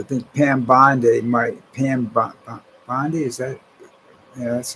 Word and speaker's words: Bondi: I think Pam Bondi might Pam Bondi. Is that Yeah, that's how she pronounces it.